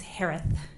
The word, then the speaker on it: Herath: maiden name last name is pronounced like Harris with a lisp it's herath h-e-r-a-t-h hello just as